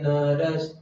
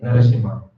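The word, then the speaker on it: Narasimha: Of course, we have a lot of shortcomings, but still, Namaste Narash. It's not like that. Namaste Narashima.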